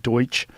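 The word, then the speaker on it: Deutch: Well the guy who was the head of the CIA the director of cell central intelligence agency in 96 was Don John Deutsch.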